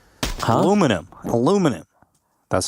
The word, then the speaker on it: aluminum: And then the Brits started calling it aluminium. And because Americans are always wrong, people assume that aluminum is wrong. But aluminum is actually technically, scientifically, the correct way of pronouncing it, if I'm not mistaken.